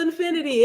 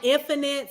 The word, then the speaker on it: Infinite: It's Infinity. So I got all the to infinity and beyond. And teachers, it's spelled like infinite. So teachers will always be like, Infinite. And I'll be like, it's Infinity.